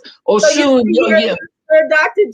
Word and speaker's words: Osun: Just think Oshun, and it's spelled the traditional way instead of Oshun. Yeah. The dots belong under the S. So Oshun, yeah.